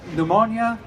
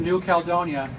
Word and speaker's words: New Caledonia: So in the farthest trek from home category, we have Hugh Drian from Pneumonia, if I get that pronunciation correct, or I did not pronounce it, New Caledonia.